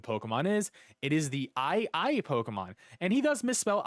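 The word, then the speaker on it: aye-aye: misspell ii here he's just going to say aiai but if you look up ii which is an actual animal that lives in madagascar which is a small island off of africa and you spell it a y e a y e and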